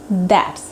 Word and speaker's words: that's: Okay, the next one is that is এর contraction from হচ্ছে that's. বাট এখানে তুমি যদি আমেরিকানদের মতো কথা বলতে চাও, এক্ষেত্রে তোমাকে ঠিটাকে স্টপ করে উচ্চারণ করতে হবে, বা ঠিটাকে ড্রপ করে উচ্চারণ করতে হবে।